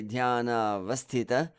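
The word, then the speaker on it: ध्यानावस्थित: Notice how I treat Guru's number 4. Dhyana vasthita. I don't just say dhyana vasthita. I give the heaviness to that vas syllable by creating a pause after the s.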